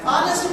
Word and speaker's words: honest: This word begins from A. S. Honest politician. S. An honest politician.